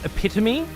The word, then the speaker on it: epitome: you get that started lovely it's uh pronounced epitomy what did I say epitome I like saying um hyperball instead of hyperbole